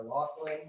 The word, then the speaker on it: Loughran: It is Loughran.